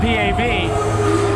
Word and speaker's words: Pav: His name is spelled Pav, P-A-V, but he tells me he likes it pronounced Pav, almost like P-O-V.